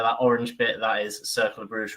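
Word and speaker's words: Cercle Brugge: This is the season that I can't remember how to pronounce the club. John, what's it called again? Cercle Bruges.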